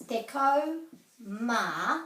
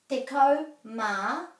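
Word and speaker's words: tekau mā: if it's between 11 and 19 then it's deco ma which is kind of like an and deco ma and then whatever it is so this would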